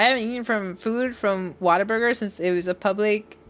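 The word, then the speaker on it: Whataburger: And it's like, "Well, if you're from Texas, that's how you say it." What a burger. Water burger. It's what a burger, but it's the way I think we say is water. It sounds like water burger.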